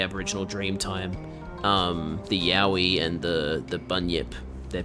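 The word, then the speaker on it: Yowie: It's pronounced the same way as the Yahi from Australia.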